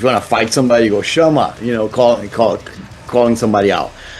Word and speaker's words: Chama: So 13th album, Max Chama. Is that the right pronunciation? Perfect. Chama.